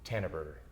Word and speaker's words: Tanneberger: hairdresser and you sp your last name is pronounced how Tanner Burger tan tanan Burger that's right and your first